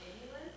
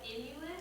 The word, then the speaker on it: inulin: So there is a product called Inulin. What's it called? Inulin. It's Spell it.